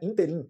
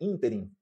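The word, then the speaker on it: ínterim: E também não é interim, é interim. Interim.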